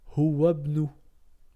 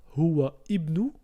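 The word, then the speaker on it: هُوَ ابْنُ: Je répète, on va pas dire huwa ibnu, mais on va dire huwabnu. Donc à retenir, le alif qui porte une voyelle ne se prononce pas si ce n'est pas la première lettre de la phrase ou du verset.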